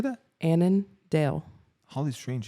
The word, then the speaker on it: Annandale: Annandale.